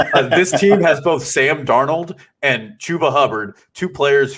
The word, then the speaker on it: Darnold: Sam Darno, I have never understood. It's French.